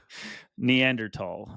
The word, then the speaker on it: Neanderthal: don't want to mess with the cave there neander tall I believe is the correct way to say